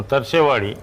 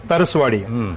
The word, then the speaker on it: ತರಸುವಾಡಿ: ಪವಾರ್ ವಸ್ತೆ ಅಂತ ಹೇಳಿದ್ನಲ್ಲ ನಮ್ಮ ಪೂರ್ವಜರು ತರಸೆವಾಡಿ ತರಸುವಾಡಿ ಅಂತ ಅಲ್ಲಿ ಉಚ್ಚಾರ ತರಸುವಾಡಿ ಈಗ ನಮಗೆ ಈ ಕರ್ನಾಟಕದಲ್ಲಿ ಬಂದಾಗ ಆ ತರಸು ಹೋಗಿ ತರಸೆ ಆಯ್ತು ಆಯ್ತು ಸರ್ ಈಗ ಈ